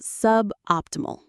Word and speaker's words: suboptimal: His process was suboptimal. Let's define that. Suboptimal. Sub optimal. Suboptimal. The main stress is on op.